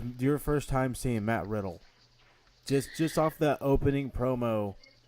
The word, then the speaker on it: Riddle: name, I just assumed his name was Matt Riddell. But A Riddle, lot of fine.